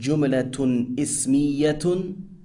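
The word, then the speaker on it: جملة اسمية: Number 1, a nominal sentence, pronounced jumlatun ismiyatun.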